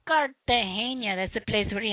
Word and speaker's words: Cartagena: You have to say it like they say it. Cartagena.